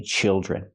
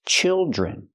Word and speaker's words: children: say child's I say children use the short I sound like this is children and the Dr makes the J sound like jump and Juice Plus the r j children there are four children